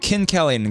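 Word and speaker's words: Kinkelin: So I learned the pronunciation there. Uhhuh. Right. Kinkellen. Glacier Kinkellen. Okay. Glacier Kellen.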